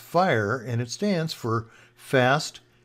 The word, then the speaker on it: FHIR: So let's take a look at HL7 FHIR, pronounced FHIR, and it stands for Fast Healthcare Interoperability of Resources.